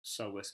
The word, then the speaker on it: psoas: So we have the iliacus, and then we have our psoas major. And together they're called iliopsoas. It's spelt with a P because psoas has a silent P in it, so iliopsoas is spelled.